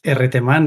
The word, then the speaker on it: Erreteman: And I'm the correct pronunciation is Erreteman, but you can just pronounce my name as you want.